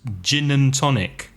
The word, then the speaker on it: gin and tonic: But it's not, you don't really hear the and.